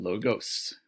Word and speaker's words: logos: That's logos, kind of with do you hear there's sort of a Z sound at the end of that word? Instead, we're talking about logos, which has more of a normal S sound at the end.